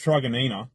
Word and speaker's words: Truganina: These prefabricated module homes have gone up in Truganina. I'm pretty sure it's pronounced Truganina.